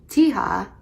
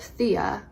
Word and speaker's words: Thea: her four-year-old daughter by pronouncing her name Thiha instead of Thea, her name.